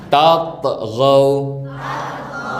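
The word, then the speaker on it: تطغوا: Dengerin cara baca Ustaz. Pantulkan. Tatghaw.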